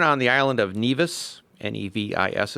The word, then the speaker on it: Nevis: He was born on the island of Nevis, Nevis it's spelled, Nevis.